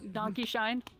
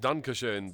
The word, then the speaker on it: Dankeschön: Donkey Shine. Yeah. Well, it's supposed to be pronounced Dankeschön, but they say Dankeschön because American accent, whatever.